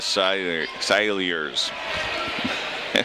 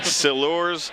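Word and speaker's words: Silures: Yeah, there were actually 4 different pronunciations. It's Silurs, Silliers, Silers, and Silers. It's all the subtlety of the vowel sounds, as it is probably with most of the Welsh language.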